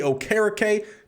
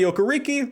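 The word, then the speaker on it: Okereke: middle for the linebackers Bobby Oar did go back to the original pronunciation if I remember reading that correctly used to be Bobby okariki that's what I knew from watching him when he was at Stanford but apparently he's changed it gone back to the traditional pronunciation and then Isaiah Simmons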